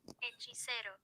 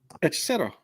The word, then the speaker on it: Hechicero: Hechicero. Hechicero.